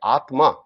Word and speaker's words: আত্মা: যেমন সর্বপ্রথম দেখুন আত্মা, শুনে মনে হচ্ছে আ তয় তয় আকার, কিন্তু কথাটা না নয়, কথা হচ্ছে আত্মা। তাহলে আমাদের উচ্চারণ হবে আত্মা।